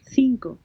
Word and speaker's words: cinco: cinco cinco okay uh supposed to be like an s or a z zinco so it's definitely